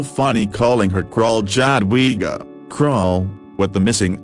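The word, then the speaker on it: król: calling her crawl chadwiga crowell with the missing accent means king and is pronounced like the english word cruel so i thought i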